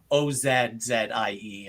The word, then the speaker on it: Aussie: I mean, the way it's spelled is Aussie for Aussie, but you can actually think of it as like Ozzzie, and that'll get you probably closer to the correct pronunciation if you think of it that way.